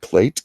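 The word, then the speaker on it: plait: a nice nice braided plate going down the back for her back that's not like a plate that you throw or you eat off of a plate it's spelled PL AIT means a large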